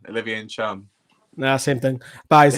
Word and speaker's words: Ntcham: Newcastle were offered Olivier Ntcham, if I said that right. No, it's Ntcham. Olivier Ntcham.